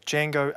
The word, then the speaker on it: Django: pronouncing it right sure Jango Unchained oh so the D is a typo no no it's not a typo it's spelled with a d uh Jango isn't spelled with a d this D Jango is spelled with a